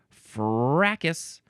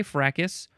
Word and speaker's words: fracas: So we got to go to fracas. Yes, you can say fracas, or you can say fracas, or the British people like to say fracas. Fracas? With no S.